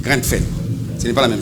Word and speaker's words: Grenfell: Non, non, c'est pas Granem. C'est Grenfell.